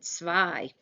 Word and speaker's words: zwei: So first of all, we've got a W missing, zwei.